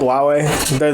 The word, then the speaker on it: Huawei: phones come here yeah it's spelled with an h but it's called huawei that was the china's